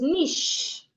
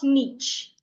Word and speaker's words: niche: Another example is niche, not niche. The CH is pronounced like SH.